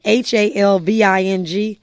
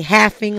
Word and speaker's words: halving: this Bitcoin having and it's spelled h-a-l-v-i-n-g some people say halfing like h-a-l-f but we all say halving there's no right or wrong again you're new in